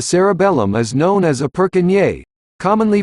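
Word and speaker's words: Purkinje: brain called the cerebellum is known as a perkinier commonly pronounced per kin g cell it is named after the anatomist who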